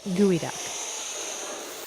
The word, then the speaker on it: geoduck: out of the way it may be spelled geoduck but it's pronounced gooey duck gooey ducks are the